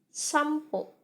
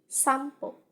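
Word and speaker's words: さんぽ: gitu ya temennya nah dalam bahasa Jepang ini kita baca sampo sampo artinya jalan-jalannya nah ini kita baca m disini teman-teman karena dia ketemu sama Pean netcom samapi gitu tapi dalam penulisan huruf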